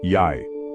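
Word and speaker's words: jeg: For example, je I looks simple but is pronounced yay. The G disappears.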